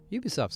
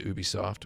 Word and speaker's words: Ubisoft: I've been to Ubisoft. Where is this one made? It's Ubisoft, not Ubisoft, by the way. I say Ubisoft. But it's supposed to be like ubiquitous.